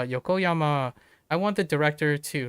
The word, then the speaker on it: Yokoyama: I think it's Yoko Hama or Yokoyama. Uh Yokoyama.